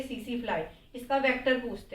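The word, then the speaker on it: tsetse: है और वेक्टस इसका सीसी फ्लाई सीसी फ्लाई को टी से स्टार्ट करते हैं टी इसमें साइलेंट होता है ये नर्वस सिस्टम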